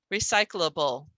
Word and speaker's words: recyclable: bling or stumbling but check out this word here everyone says it with three with an extra syllable there for the cl recyclable recyclable right the cl is definitely a syllable by itself and the dictionaries agree